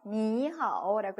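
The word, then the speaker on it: 你好: 앞에 거는 편하게 이성으로 읽어주시는 거 니하오라고 읽어주시는 거 기억나시죠?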